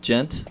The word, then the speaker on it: djent: But djent? Yeah, djent. Like gentlemen? G-E-N-T?